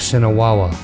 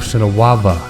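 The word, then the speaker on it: Sinawava: right here into the the temple of Cinna Walla yes or I'm sorry the temple said a lava gotta get that pronunciation corrected and this is kind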